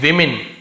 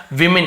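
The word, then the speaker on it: women: with यानी के साथ, विमेन इसे विमेन पढ़ेंगे, वुमेन नहीं पढ़ेंगे ना, वुमेन ऐसे होता है, वुमेन यानी एक औरत, एक से ज्यादा औरत है तो ई लग जाता है, तो वुमेन नहीं पढ़ेंगे, इसे विमेन पढ़ते हैं, तो बहुत सारी औरत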